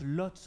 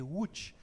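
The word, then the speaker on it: Łódź: est originaire de lui on prononce lotz en français mais c'est watch en polonais et jeu je salue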